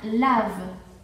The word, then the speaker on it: lave: Si tengo E sin acento, la E final, le E final, sería mudo. ¿Ok? Entonces se pronuncia lave. Nada más, sin la E, sería lave.